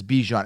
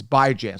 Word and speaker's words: Bijan: And everybody that's saying Bijan, B-E-E, you guys are stupid. Anyone who thinks that it's Bijan, it's not. It's Bijan. So get that right.